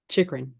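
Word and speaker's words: Chychrun: Chikrin.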